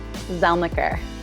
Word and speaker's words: Zelniker: Zelniker.